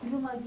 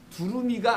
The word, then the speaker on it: 두루마기: 자, 옷인데 이걸 두루미가 아니고요. 흰 두루미라고 읽지 마시고 그건 새고 두루마리도 아니고 어려워, 그지? 마귀도 아니고.